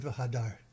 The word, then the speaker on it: Hod: Uh someone asked I don't know who it was difference between Hodar. Um and so uh one way that I've remembered that I sometimes remember is Hod rhymes with sod and so does secret or hidden.